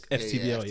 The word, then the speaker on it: FTBL: So obviously I'm referring to, well, I'm assuming, is it pronounced football? Or is it FTBL? FTBL. It's FTBL, yeah.